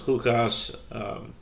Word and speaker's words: Chukas: This is Shishi, the sixth reading of our weekly Torah portion, which is Parshas Chukas, or Chukat, depending on your pronunciation.